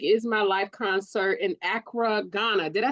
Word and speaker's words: Accra: at the music is My Life concert in Acra Ghana did I say that right yeah yeah